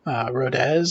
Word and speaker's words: Rodez: Rodez, I believe is how it's pronounced.